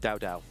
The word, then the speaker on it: Dao Dao: I mean, what rhymes with Dao Dao? Pow pow.